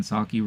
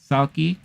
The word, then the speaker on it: Salke: Head of Amazon and MGM Studios, Jen Salke, revealed the news at the company upfront event in New York. Salke, or Salk, depending on how you want to pronounce it, calls the series epic,